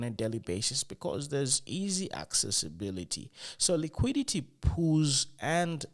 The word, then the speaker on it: IKEA: a lot of stores talk about EA you know EA you know the Swedish brand you know uh maybe you guys pronounce it uh pronounce it as Ikea you know that brand